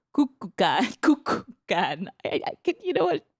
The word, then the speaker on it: Kukulkan: Because they worshipped a snake god called Kukulkan. Kukulkan. You know what? How do you spell it? K-U. K-U-L. K-A-N. Wow. Okay, how would you say that? Kukulkan.